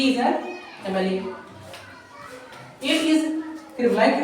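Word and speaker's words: MLA: क्योंकि देखो यहां पर क्या है इसका? एम है। लेकिन हिंदी में चार क्या बन गया? एम मतलब एम पढ़ते है ना फिर तो पहला अक्षर क्या आएगा ए इसलिए यहां पर क्या होगा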